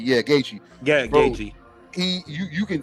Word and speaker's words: Gaethje: And in the main event, you saw Gaethje do that a lot.